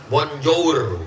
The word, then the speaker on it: bonjour: bonsoir cara bacanya bons Selamat pagi Bonjour cara bacanya Bonjo Selamat pagi Bonjo Selamat